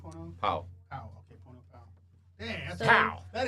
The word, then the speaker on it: Pau: Pow.